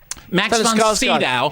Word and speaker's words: Max von Sydow: by most people as the new incarnation of Max von Sydow. I mean, which is, incidentally... Max von who? Sydow. We've done this before. That's how it's pronounced. I know. Max von Sydow.